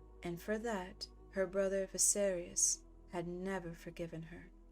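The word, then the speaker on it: Viserys: also I just realized I changed uh the way I say his name so visarius I think that's the way you're supposed to say his name visarius okay okay moving on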